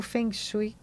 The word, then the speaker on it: Feng Shui: A pronúncia tá correta? Tá certa. É, não tem uma forma muito certa, porque como é uma palavra em chinês, a fonética a gente aceita brasileirar, não tem problema nenhum. Foi justamente quando a gente